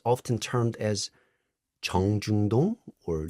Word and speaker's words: 정중동: It's often termed as 정중동 or 동중정. Can you pronounce this? Can you repeat, please? Okay, 정중동, 정중도, 동중정.